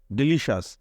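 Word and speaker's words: delicious: এর উচ্চারণ এরকম হয় সি এর উচ্চারণ হয় মানে অনেকটা তালব্য স এর মত উচ্চারণটা হয় কখন হয় সি এর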